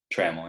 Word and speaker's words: Trammel: How do you pronounce it? Trammel, yeah.